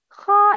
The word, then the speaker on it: خاء: Kha is always mufakham. Mufakham means heavy sound.